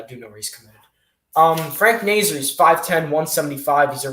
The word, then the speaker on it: Frank Nazar: the united states national development team okay oh frank nasir okay i thought i thought that's pronounced frank nazar what yeah me too yeah everyone did to